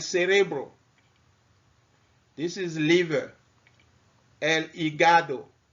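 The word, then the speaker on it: hígado: this is liver and igado igado the h is mute okay the h is there but it's mute so in spanish you don't pronounce the h okay and there is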